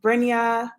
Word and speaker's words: Brinya: who are new here my name is brinya it's pronounced brinya people call me bren um and basically i